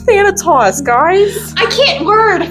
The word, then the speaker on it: Thanatos: We were saying Thantos earlier. Yeah, she was saying that. It's Thanatos, guys. I can't word. Thanatos.